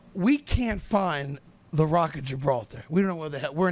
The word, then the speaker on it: Gibraltar: goes they don't they the G in Spain is a soft G not a hard G so instead of Gibraltar it would be Hebrew altar so I say to